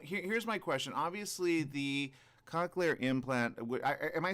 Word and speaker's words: cochlear: Obviously, the cochlear implant. Am I saying it correctly, Doc? So cochlear implant here in the United States, although if you're living in Australia, you're saying it perfectly.